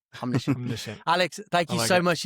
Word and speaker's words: Omniscient: Omniscient. Omniscient.